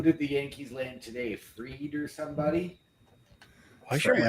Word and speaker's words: Fried: years $218 million yeah it's actually pronounced freed spelled fried no I'm I'm going to say fried until he actually wins